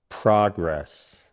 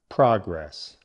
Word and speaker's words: progress: Stress on the first part. Progress. This means forward movement, like making headway on something. Listen again. Progress. Your turn. Nice. Okay, now for the sentence. We are making good progress on the project. Go ahead, guys. Now for the verb. Stress moves to the second syllable, progress.